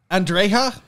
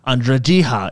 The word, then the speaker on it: Andreja: Like Andrea, she's a lady I'm trying to woo right now. It's not Andrea, it's Andrejiha.